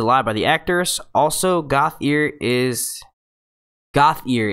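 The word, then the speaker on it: Gauthier: Also, Goth ear is how you say my last name.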